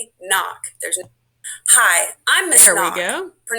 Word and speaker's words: Knock: Hi, I'm Miss Knock. Pronounced N-O-C-K.